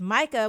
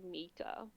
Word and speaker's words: Micah: they pronounce it Mika. Oh, Mika, my bad. But Mika's a Yeah. fucking idiot. No, it's spelled Micah. It's pronounced Mika.